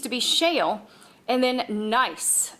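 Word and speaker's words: gneiss: be shale and then nice the g is silent here nice not good ice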